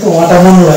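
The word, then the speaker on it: autumn: তারপরে next word হচ্ছে water এটা কি অটামুন হটা হটা হচ্ছে একটা ঋতু ঋতুর নাম অটামুন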